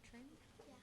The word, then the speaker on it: Trin: Is it Trin? How do you pronounce it? Trin? Yeah.